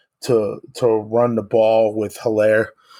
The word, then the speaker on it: Edwards-Helaire: I think that they do enough to run the ball with Hilaire. I believe that's how you pronounce his name.